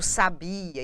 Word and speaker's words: sabia: se pronuncia a palavra esses exemplos aqui para vocês da questão do sabiá do sabia e do sábia traz para vocês uma mesma palavra quando nós temos uma variação do assento gráfico de posição e